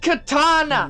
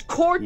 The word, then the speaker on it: Cortana: It is not pronounced Katana! You have it? It is Cortana!